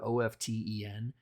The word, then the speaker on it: often: Like you're not supposed to, you're not supposed to pronounce the word OFTEN with the T sound.